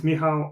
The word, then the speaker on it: Michal: an introduction about yourself so my name is miow I'm from Poland I live in UK for